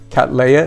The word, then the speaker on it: Cattleya: She says the name is pronounced Cattleya. Think of Cat and Princess Leia.